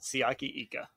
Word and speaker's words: Siaki Ika: Bengals, for the Browns, I mean, they get Siaki Ika. Is that how you say his name? The Baylor defensive tackle? Yeah, you nailed it. Siaki Ika.